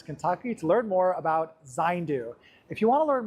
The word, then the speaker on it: Zayndu: data behind this technology, please look online for Zandu. That's spelled Z A Y N DU.